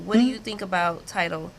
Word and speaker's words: Tidal: Tidal.